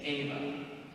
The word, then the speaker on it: Eva: So in Latin, the name of Eve is spelled E-V-A, is Ava.